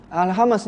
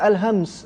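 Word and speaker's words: الهمس: Al-hamas ni, maksud saya hamas pada huruf ha. Kita tengok hams. Ada orang cakap al-hamas, tapi yang lebih tepat al-hams sebab mim tu mati ke ejaan dia.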